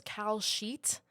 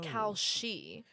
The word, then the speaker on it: Kalshi: I used to think it was Cal Sheet, like a betting sheet, but it's Oh. Kalshi. Yes, like she. Like she, but with an I.